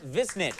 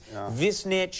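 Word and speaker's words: Višnjić: It's a tongue twister, you know, but I decided to put it like it's written in my language, and I know people would mispronounce it, you know, but Visnjic is pretty close. Visnjic.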